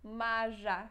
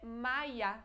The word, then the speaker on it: Maja: porque não Lemos isso maja não é Maia é como se tivesse I né na pronúncia mas você escreve com J mesmo em